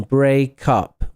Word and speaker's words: break up: So we learn like break up, and notice the pronunciation, break up. We have the linking, break up. Phonemically, break up, something like break up, like this. You can just say it as one word, break up, in terms